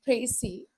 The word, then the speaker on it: précis: Okay, so as I've told you, a précis, pronounced précis, is a clear, compact, and logical summary of a passage.